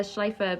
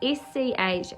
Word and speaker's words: Schlaepfer: It's Schalpfer, and I'm pretty sure when the P and the F together are like Fur. Yeah, like Michelle Pfeiffer.